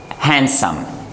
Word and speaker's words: handsome: Now in this word, the letter D is silent. We do not pronounce it. So the correct pronunciation for this word, it comes handsome, handsome, handsome, handsome. Do not pronounce D in this case. We pronounce handsome, not handsome.